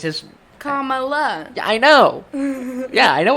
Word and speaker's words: Kamala: the phonetic principles yeah she tweeted it comma like the word comma but when i say it it just says comma i guess it's just kamala i know yeah i